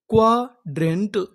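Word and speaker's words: quadrant: क्वाड्रेंट।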